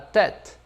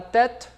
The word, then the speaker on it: tête: Como se eu estivesse utilizando o E acento agudo, tá bom?